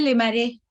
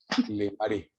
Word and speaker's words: Le Marais: Se dice Le Marais. Le Marais.